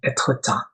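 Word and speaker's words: Étretat: That's a beautiful city called Etretat, or the French pronunciation Etretat.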